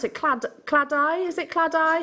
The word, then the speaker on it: Claddagh: Claddagh? Is it Claddagh? It's Cladder. Cladder.